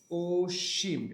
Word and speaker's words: অসীম: এরপর দেখ এটারে কি অসীম বল না অসীম বল? এটার উচ্চারণ কি হবে? অসীম। এটার উচ্চারণটা কি হবে? ওসিম। এটার উচ্চারণটা কি হবে?